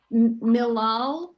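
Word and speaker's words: מלעיל: Mil ale, I mentioned late last week, is when the accent on the word is from the next to the last syllable.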